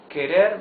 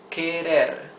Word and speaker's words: querer: Try to pronounce the words querer, querer. You see that the R is the soft sound of the R because it's not at the beginning of the word and because it is not doubled.